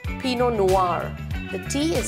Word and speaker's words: Pinot Noir: Rose it's Rose it's not peanut Noir it's Pinot Noir the tea is silent the r is silent Pinot Noir it's not G again is silent it's vionie